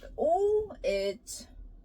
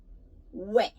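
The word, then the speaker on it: 외: this one so with o it's we mm way be careful it's not o this is O this is e but it's not pronounced as oi oi it's we we and this o and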